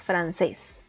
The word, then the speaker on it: francés: que termina en l después tenemos francés es una palabra de dos sílabas la sílaba tónica recae en la última y como si termina en ese debemos acentuar la francés ahora vamos a continuar